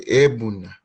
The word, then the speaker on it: Egbuna: If we were in Nigeria, though, they would say Ebuna. But because of the pronunciation dynamic, Egbuna is fine.